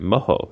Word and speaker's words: mojo: what is mojo well if you pronounce it moho it's actually like a a type of sauce that you put on things